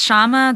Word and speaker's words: Shyama: Public Service yeah uh it's shama and I'm I used to tell people that it rhymes with llama now I tell people that would mess people some say shalama they would still mess it up so now I say think of ight Shyamalan because it's spelled exactly like the director's name no relation but yeah it's it's uh pronounced the exact way and spelled the same way so that helps people so